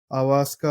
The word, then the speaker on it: ayahuasca: Avaska, I think it's pronounced like that.